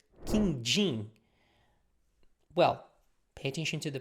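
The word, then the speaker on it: quindim: trying so next one is a sweet called King Jing well pay attention to the pronunciation King Jing it's yellow round it's like it looks like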